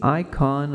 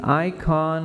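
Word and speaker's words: eikon: everyone's name is sacred the name is the icon of the person it demands respect as a sign of the Dignity of the one who Bears it when the catechism says that the name is the icon of the person the Greek word that's used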